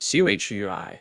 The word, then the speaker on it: Chui: associated with the lungs; Chui pronounced like tui with a forceful exhale, which is also associated